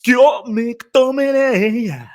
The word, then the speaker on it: McTominay: Scott McTominay.